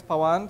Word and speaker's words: Pan: been in New York I heard 10 different pronunciations of my name so one of them is pan so you can probably stick to that um I started off